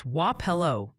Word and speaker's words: Wapello: On a lighter note, the pronunciation police say it's Wello for Wapello and Bonapart for Bonapart.